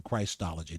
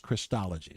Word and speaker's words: Christology: I know some folk would say, "Well, you're saying Christology." No, it's pronounced Christology, okay?